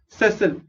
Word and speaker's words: sessile: let me get this pronunciation correct। yes sessile।